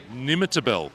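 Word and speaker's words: Nimmitabel: Nimitabel. Correct. Oh, I spelled that right.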